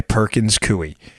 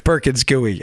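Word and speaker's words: Perkins Coie: who comes in a private contractor paid by Perkins cuy who was also paying Perkins cuy well thank you for everyone who corrected the pronunciation in that by the way I really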